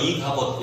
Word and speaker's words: 이가봇: 그 이가봇이라고 하는 말이 무슨 말이냐면 히브리어로 이가봇, 야 발음 그대로예요.